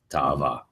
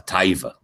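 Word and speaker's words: תאווה: best translated as lust, ta'ava. And it usually has a negative sense. Like when people speak Ashkenazi Hebrew, a taiva. Taiva is just the Ashkenazi pronunciation of ta'ava in Hebrew.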